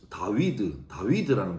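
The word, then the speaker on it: דוד: 그런데 이 다윗이라는 다윗은 히브리어로 다위드라는 발음인데, 우리 치면 다비드면 디귿, 비읍, 디귿 되잖아요.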